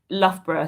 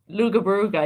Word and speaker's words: Loughborough: Loughborough, so just outside Nottingham, like between Nottingham and Leicester. So it's further north. Leicester's there, Nottingham's there. Loughborough, you can see Loughborough in the middle.